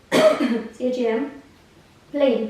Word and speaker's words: Champlain: And it's funny, you know, the French, they spell it a different way and they say it a different way. So, the way they spell it is C-H-A-M, Plain, P-L-A-I-N.